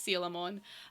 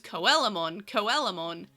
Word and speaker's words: Coelamon: It's Sealamon. But anyway, it's so hard to pronounce correct because my monkey brain goes Coelamon. So I have to go Sealamon.